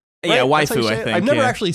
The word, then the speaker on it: waifu: white oh wait how do you say that waifu yeah waifu I've never actually said that out loud while